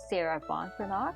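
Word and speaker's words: Sarah Ban Breathnach: As mentioned from the previous episode, this podcast is influenced by the book written by Sarah Von Branagh. I stand corrected, that's how her name should be pronounced.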